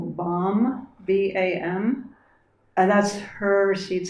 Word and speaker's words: BAM: And now we'll sound the seed syllable BAM, B-A-M, and that's her seed syllable.